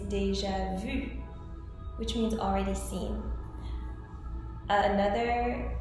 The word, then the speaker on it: déjà vu: English, which is déjà vu, which y'all often pronounce déjà vu. It's not déjà vu, it's déjà vu, which means already seen.